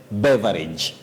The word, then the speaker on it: beverage: or leverage but Betty we don't say beage we say be beverage beverage don't say be yes okay